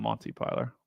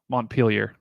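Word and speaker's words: Montpelier: last time Monty piler I know it's not Monty piler montar yeah sorry but they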